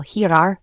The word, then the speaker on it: girar: Before E or I, it is pronounced like the H in hat. For example, girar for rotate.